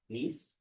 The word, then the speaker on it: Nice: It's spelled Nice, but it's the place in France, Nice.